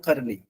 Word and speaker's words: Qarani: आई एस सस अल करनी अल उसके बाद जो है उसके बाद करनी काफ ये काफ की आवाज निकलेगी क्यू ए आर ए एन आई करनी इमाम वैस अल